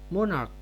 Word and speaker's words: monarch: Apabila kata benda tunggalnya berakhiran CH tetapi tidak berbunyi desis, melainkan diucapkan dengan bunyi K, maka bentuk jamaknya tidak ditambah ES, tetapi hanya ditambah S.